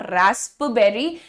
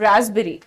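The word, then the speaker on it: raspberry: यहां लिखा हुआ है दिखने में लगता है कि यह रास्पबेरी है but this is नॉट रास्पबेरी this is रसबेरी हाउ ड यू प्रोनाउंस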